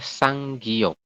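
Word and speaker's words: 쌍기역: Ini dibacanya apa? Tiga huruf ini adalah sang. Itu ya, sang. Kemudian setelah itu yang kata kedua, gi. Kemudian ini apa? Adalah yok. Kayak ini ya. Jadi dibacanya adalah sang giok.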